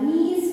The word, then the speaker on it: knees: her knees felt weak. her knees, ಅವಳ knees means ಮೇಲೆ ಹತ್ತಬೇಕಲ್ಲ ಅವಳ ಮೊಣಕಾಲುಗಳು. knees means ಮೊಣಕಾಲುಗಳು. here once again which letter is silent?